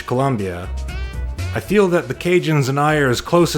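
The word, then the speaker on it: Cajun: And then over time as the word ocadian passed through various American dialectical filters for a few decades, it eventually came to be pronounced cinjun. That's the Canada cinjun connection for you.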